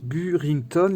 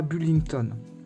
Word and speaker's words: Burrington: en L par contre elle s'appelle burington et on dit pas büllington bref vous comprenez pourquoi